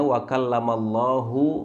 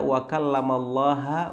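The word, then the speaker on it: وَكَلَّمَ ٱللَّهُ: sebagai subjek yang artinya wakallamallahu Musa taklima yaitu Allah yang mengajak berbicara kepada Musa tapi kemudian misalkan ada seorang Imam salah bacanya dia membaca wakallamallaha Musa taklima menjadikan lafzul jalalah ini mansub sebagai objek yang artinya Musa yang mengajak bicara kepada kepada Allah nah ini fatal akibatnya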